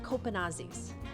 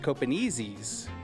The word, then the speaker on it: Copenaezis: Copenazis. Well, um it's actually pronounced copenezies.